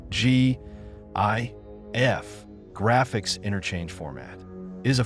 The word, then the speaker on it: GIF: Should it be pronounced with a hard G as in gift or a soft G as in giraffe?